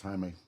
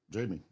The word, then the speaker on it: Jaime: I thought it said Jamie, because I didn't know they pronounced their J's as H's and all that stuff.